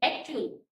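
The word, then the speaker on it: actual: करेंगे च रीड करेंगे जैसे कि य आप सामने एग्जांपल है क्या है एकचल स्पेलिंग क्या होता है ए सी टी टी के बाद क्या है य ए एल है मतलब उसको हम क्या रीड करते एक्चुअल कभी हमने बोला एक्च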